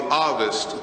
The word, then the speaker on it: Ovist: There is in history, if you do the research again, a theory called the Ovist theory. It's spelled O-V-I-S-T. It's pronounced A-H-V-I-S-T.